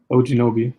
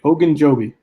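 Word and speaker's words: Ogunjobi: big ones you got fletcher cox and um ojinobi oh oh oh oh ogan joby there you go they never pronounce these names uh yeah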